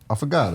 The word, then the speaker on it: affogato: And you said it wrong. It's affogato.